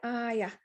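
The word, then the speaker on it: آية: stop you would say aya you don't pronounce the ta you pronounce it like a ha so this is what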